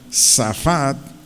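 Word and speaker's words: שָׁפַט: La expresión juzgarán, del vocablo hebreo Safat, S-H-A-F-A-T-D-T-T, S-H-A-F-A-T-D-T-T, Safat. Significa en nuestro idioma pronunciar dictámenes u opiniones.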